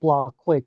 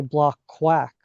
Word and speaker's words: Blockquake: our name like it's it's pronounced blockquake blockchain earthquake right uh that was how we came up with the name but folks often mispronounce it and they say block quack often like quack like